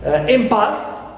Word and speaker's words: impulse: im is stressed right impulse also here theix m is stressed in itself ites Prim